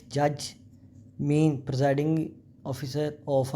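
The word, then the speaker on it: mesne: Clause 12 मीन profit. इसमें S silent है, मीन profit पढ़ते हैं।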